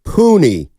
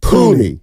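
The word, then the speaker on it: Puni: you're being uh honest 510 says it's pronounced puny it's an Islander name puny thank you very much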